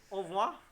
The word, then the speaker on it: au revoir: So you say au revoir. Au revoir. I can never do that. Au revoir. Au revoir. All right. So we have to say goodbye. Au revoir to our audience.